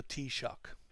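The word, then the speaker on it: Taoiseach: from the Irish language it's pronounced T like cup of tea and shock like electrical shock so the tea shock so you'll need the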